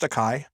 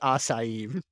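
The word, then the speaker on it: açaí: sure if that counts but isn't it pronounced takai is that how you say i don't even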